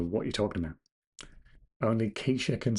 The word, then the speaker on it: Kesha: Only quesa can say timber. We're lucky that I knew to pronounce that quesa and not kesher.